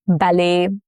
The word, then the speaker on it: ballet: Examples are ballet, buffet, crochet, all have the T's that are silent.